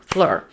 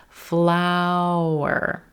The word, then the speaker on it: flour: one syllable like fl fleur but really it sounds like two flower as we pronounce our ow as in brown vowel sound and then move up